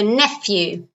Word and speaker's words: nephew: son is my nephew notice the pronunciation here the the P and the H of so nephew very good okay my